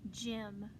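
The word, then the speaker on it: gym: a word for example the word gim gim is spelled g y m Jim j i m and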